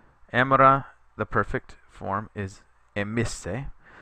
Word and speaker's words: emisse: Emera, the perfect form, is emisse. Notice how the E here lengthens, so you get emera and then aim isse. So make sure you emphasize the pronunciation on that.